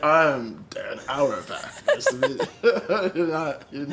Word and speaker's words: Auerbach: No, you nailed it. Auerbach? Yeah, nailed it. That's it.